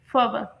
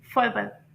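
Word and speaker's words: fervour: और इसकी जो प्रोनाउंसिएशन है ब्रिटिश प्रोनाउंसिएशन तो उसमें इसे प्रोनाउंस करेंगे फर्वर, फर्वर। और अमेरिकन प्रोनाउंसिएशन में से प्रोनाउंस करेंगे फर्वर, फर्वर, क्योंकि इसमें आर को अमेरिकन में क्लियरली प्रोनाउंस किया जाता है।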